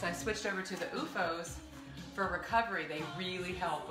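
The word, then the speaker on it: OOFOS: It's called UFOS. It's kind of hard to see it, but it's spelled O-O-F-O-S.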